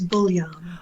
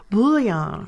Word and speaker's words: Buglion: last name is even tougher and that is bullan bullan okay is that French no it's actually Italian